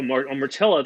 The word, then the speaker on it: Mortilla: Good, and it rhymes with gorilla. Oh, Mortilla.